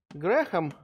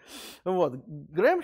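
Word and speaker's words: Graham: по теории рамсея рональд грэхам ну лучше наверное грэм говорит так если уж совсем по по-настоящему по-английски там никакого хранит произношение фамилии никакого х нет но по-русски его почему-то вот так транслитерировать грэхам вот он к сожалению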